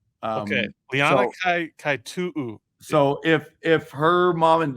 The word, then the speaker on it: Kaitu'u: She's never corrected me, but I'm pretty sure it's Kaitu'u. Okay, Liana Kaitu'u.